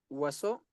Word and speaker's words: oiseau: Eh, se pronuncia oiseau, que significa pájaro.